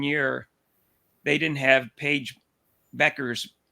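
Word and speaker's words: Bueckers: they didn't have Paige Beckers that's that's actually the correct pronunciation by PA Beckers um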